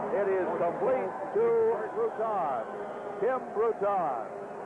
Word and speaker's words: Bruton: is complete to Kim Bruton it is spelled b Ru t n and pronounced Bruton the hurricanes have the